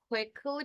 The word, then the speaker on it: quickly: e aqui também ó quickly primeira sílaba tem o i então não falo não é um I forte é como se quisesse